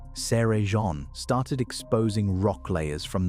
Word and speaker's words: Cerrejón: Nothing in Cerrejón, pronounced Seh-reh-hon, grew small.